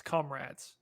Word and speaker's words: Comrades: Is it comrades or comrades? Which is 1 year of following the ultra marathon. You've got it right now, Robert. It's comrades. Okay, good.